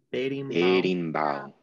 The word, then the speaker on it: berimbau: muito bem caxixi ok e vamos falar comigo berimbau berimbau muito bem berimbau perfeito e a última atabaque